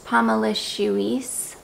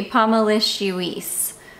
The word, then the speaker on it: Pomelicieuce: I can't even see on the viewfinder if you guys can see that name or not. I think you can. There it is, Pomelicieuce. And so she's got it written out for me here, like phonetically, Pomelicieuce.